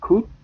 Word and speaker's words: could: Okay, so you say could, would, and should. Don't pronounce O or L.